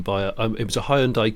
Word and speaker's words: Hyundai: a it was a hyundai coupe or hyundai for american listeners hyundai um and there were